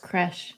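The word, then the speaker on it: crèche: Apparently, it's pronounced creche.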